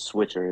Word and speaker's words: Switcher: Swit what is it it's switcher is how you say yes okay yeah switcher